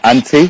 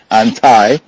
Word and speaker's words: anti: American for a minute we say anti here we Americans say anti I'm totally anti- drugs